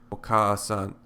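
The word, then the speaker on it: おかあさん: In fact, if you pronounce oka-a-san quickly, oka-a-san, oka-a-san, oka-a-san, you will find that the second vowel easily merges with the first.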